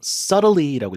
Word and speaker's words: subtly: subtle S-U-B-T-L-T B는 묵음이죠. 그쵸. subtle이라고 안 읽고 이거 네. 그냥 subtly라고 읽으시면 됩니다.